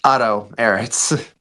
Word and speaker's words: Otto Ehritz: Is that the correct pronunciation of your last name there? It's Otto Ehritz.